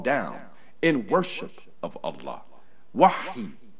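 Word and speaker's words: وحي: Wahi is pronounced with hey in the Hebrew dialects and ha in the Arabic Quran.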